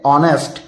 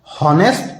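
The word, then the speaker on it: honest: टी लिखेंगे हम लेकिन हम इसे पढ़ेंगे ऑनेस्ट नेस्ट नहीं पढ़ेंगे इसका जो भी पढ़ने का तरीका होता है वो होता है ऑनेस्ट एच हमारा साइलेंट होता है ये हो गया यू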